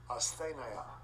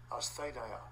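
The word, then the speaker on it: ἀσθένεια: The pronunciation being off. Strong's G 769. Asthenia. Yeah. Asthenia. Asthenia.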